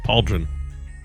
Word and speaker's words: pauldron: compute of that spelling pauldron PA like the B and Jon like Tron with a d I don't know man yeah that's how it's pronounced pauldron okay uh that thing